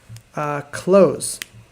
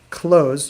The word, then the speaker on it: close: So it's spelled exactly the same, but the S changes from close to close.